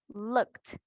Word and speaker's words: looked: Correct pronunciation, looked. Correct pronunciation for the second one, kissed. With T. ed sound like a T.